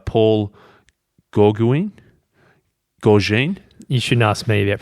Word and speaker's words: Gauguin: It could be a philosophical paradox like Paul Gauguin. You shouldn't ask me about pronunciations.